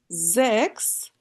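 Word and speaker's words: sechs: ফিয়া Jacks S এর পরে এ আছে জ এর মত হবে জেক্স জিবেন জেক্স জিবেন আট আন্ত নয়ন নয়ন নাইন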